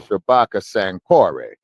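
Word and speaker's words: Shabaka Sankore: part about it is they pronounce my name uh properly, which is Shabbaka Sanori. Yes. Say the last name is after the University of San Corey, you know, in ancient Mali.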